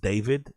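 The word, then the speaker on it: d4vd: So, I think this guy's name's pronounced David. I'm pretty sure it's been named David, but it's D4 VD.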